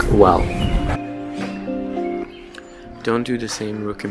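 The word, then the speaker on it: Güell: And by the way, the park is pronounced Park Well.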